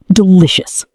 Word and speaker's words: delicious: And the word delicious. Delish. Delicious. The stress is on the second syllable.